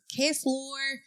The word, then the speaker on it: Ksloir: Okay, we have Krystal from Ksloir Furniture.